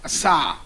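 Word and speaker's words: עָשָׂה: made is actually as a it means it's pronounced Assa in making meaning to make out of previously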